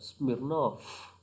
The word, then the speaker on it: Smirnov: Smirnov and Mrs. Popov. Okay, pronunciation Smirnov and Popov.